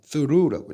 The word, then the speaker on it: through: 근데 throw라고 읽으면 안 돼요, 여러분. through라고 읽어야 돼. through. 왜냐하면 여기 있는 o 있죠. 이것도 장식이야. 장식이야. 그래서 발음을 안 해.